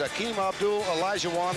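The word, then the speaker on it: Akeem Abdul Olajuwon: By the time he is through, you all will know how to pronounce his name. It's Akeem Abdul Elijahwan, the 7-footer from Lagos, Nigeria.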